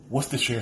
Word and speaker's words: Worcestershire: You have ketchup, lemon juice, honey, molasses, apple cider vinegar, Worcestershire sauce, I finally said it right, paprika, black pepper, salt, onion powder, garlic powder, and brown sugar.